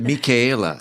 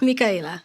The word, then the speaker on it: Mika: You pronounce it Mika. Mika.